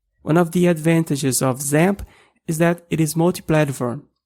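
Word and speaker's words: XAMPP: one of these packages called zamp some people also pronounce it examp so let's head over to the zamp website which is at www.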